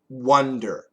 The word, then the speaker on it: wonder: So wander is an wander, wander. wonder is an wonder, wonder. So it's the same idea as I want one.